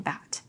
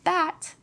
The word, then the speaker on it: bat: These words might sound very similar, but the P in pat sounds slightly harder than the B in bat. When you say pat, some air will come out of your mouth. But when you say bat, this won't happen.